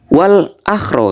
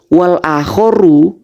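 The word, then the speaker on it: والآخر: Wal akhro katanya. Kok bisa wal akhro Pak Haris? Mungkin yang Anda maksud wal akhoru al aslu fil ibadat al hadru. Mungkin gitu. Itu bacanya wal akhoru.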